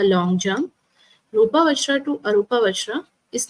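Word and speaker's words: arūpa: is kamaa second is Rupa you should uh pronounce with me arupa and l chati what does it mean it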